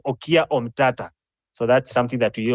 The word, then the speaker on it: Okiya Omtatah: said on the comment most people have maybe been pronouncing the name wrongly it's not omia it is okia omata so that's something that